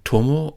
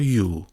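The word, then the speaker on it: 友: Okay, here we have the character for friend with the pronunciation tomo or you.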